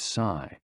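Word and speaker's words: 呬: The 6 sounds are XU, pronounced like shh, with a deep sigh, which is associated with the liver. HE, pronounced like her, with a yawn, which is associated with the heart. SI, pronounced like sir, with a slow exhale, which is associated with the lungs.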